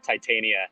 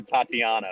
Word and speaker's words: Titania: to this also uh that was a different pronunciation from what i've ever heard i believe titania is what i've always referred to the characters i think i think you might have called her tatiana but you were you